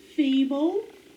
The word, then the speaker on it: feeble: what do we have final stable syllable b-l-e accents on the first syllable have digraph e e now let's sound it out e bull feeble all right number six